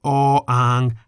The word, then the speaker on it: อ อ่าง: of the letter, which or ang does not have. That is the consonant or ang, which we can summarize as a consonant that is always silent at the beginning of a syllable.